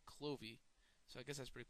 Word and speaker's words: Clovis: he dies um yeah Clovis actually I learned today was actually the first king of France but they pronounced it clovy so I guess that's